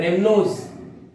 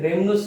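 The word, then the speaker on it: rhamnose: रेमनोज क्या है, रिमनोज भी कहते हैं कई बार इसको प्रोनाउंसिएशन में, रेमनोज इज the correct pronunciation.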